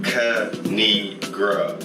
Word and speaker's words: Kanigra: And it's pronounced Kanigra. Don't fuck her name up.